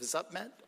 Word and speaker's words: Zupmet: See, I've been practicing for like an hour pronouncing uh because I walked in saying zup and he goes, "No, no, it's definitely not that, but I I got closer.